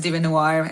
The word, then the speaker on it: DieveNoire: It's Larisa, and the band's name is Devinwahr.